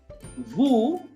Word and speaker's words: vous: Vu, that is VOUS is vu, OU is oo.